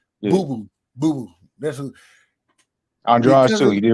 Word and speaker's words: Andrade: Andrade too.